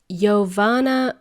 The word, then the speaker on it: Jovana: but let's try this it is yoana and uh I usually joke with my um peers about how to pronounce my name and it's something that you can easily remember you know time when maybe uh when you ask somebody for a coffee you would say yoana coffee that's how pronounce that's